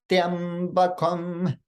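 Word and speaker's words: त्र्यम्बकम्: Additionally, that first syllable, triya, should be pronounced with the swarita swara, the high pitch, which a lot of people will skip this as well. The other syllables are pronounced with the udatta swara, the middle pitch.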